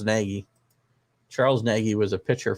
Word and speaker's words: Nagy: think it's matt maggie did i say his name wrong i know it's naggy charles naggy was a